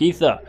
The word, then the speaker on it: Aether: first played this game, I did not know how to pronounce Aether, and I pronounced it Aether, because it has an A, which is just E.